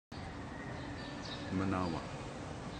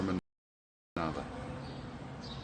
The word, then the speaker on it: manawa: Manawa, or Manava. Manava, what W is sometimes pronounced with a V.